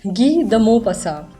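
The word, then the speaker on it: गी द मोपसा: इनका नाम हो जाएगा गी द मो पसा और ए एन टी साइलेंट है।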